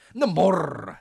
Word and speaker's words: Namor: Namor with an R. You got the R, the roll your R.